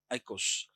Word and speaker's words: oikos: Greek word. Eikos. Oikos. Pronounced as eikos.